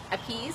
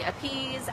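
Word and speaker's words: Apis: So it's called A-P-I, well, it's spelled A-P-I-S, Appease Malefica.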